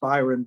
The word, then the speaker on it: Biren: but not the spelling so it's byron but it's spelled b-i-r-e-n and of course that